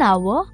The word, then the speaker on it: hour: we also say an hour and an honest man but why because even though these words begin with a consonant the letter h is silent so the words begin with a vowel sound the vowel sound of